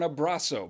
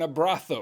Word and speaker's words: abrazo: In Spain, Z's and S's are mostly pronounced as TH, whereas in Mexican Spanish, they are pronounced with an S sound.